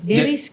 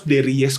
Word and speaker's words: Deries: Deris. Betul, jadi kalau ditanya nama bener harus Deries. Deries. Tapi biar Yes. Tapi biar gampang Deris aja.